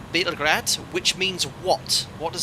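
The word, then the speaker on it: Београд: capital of serbia belgrade in slav it is called bitter grad which means what what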